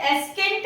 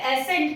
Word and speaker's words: ascent: Letter सी में जब भी सी एस के बाद आता है तो हम उसे साइलेंट मानते हैं। Just like in एसेंट, ASCENT, एस के बाद सी आ रहा है तो हम इसे एस्केंट नहीं पढ़ रहे हैं, हम इसे एसेंट पढ़ रहे हैं।